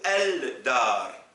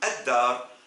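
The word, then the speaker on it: الدار: dois dire ad-dar ou el-dar? C'est évident et vous le savez qu'on dit ad-dar. Du coup, le del, l'article défini ne se prononce pas devant le del, donc del, c'est comme ash-shams, harf, shamsi.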